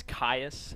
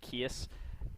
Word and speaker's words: Caius: But there's one, like, it's Caius, and I kept saying Kias. And the second night I go up there, this parent goes up there and says, "Oh, you said this name wrong. You need to get that fixed."